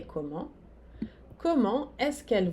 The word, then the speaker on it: comment: O S não se pronuncia, comment? O T não se pronuncia. Elles vont à Paris comment? Fazendo a pergunta com est-ce que, eu começo pela palavra interrogativa, que é comment.